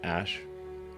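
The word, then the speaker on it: Æ: Um, and then the AE is like pronounced ash.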